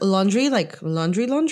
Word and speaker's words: Laundrie: Wait, can I, like, the last name is like laundry? Yeah, like, well, it's spelled Laundrie. Laundrie. Oh, French or something, I don't know. okay. So, yeah, but it's not laundry.